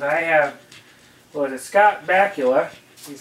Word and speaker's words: Scott Bakula: I have, what is it, Scott Bakula.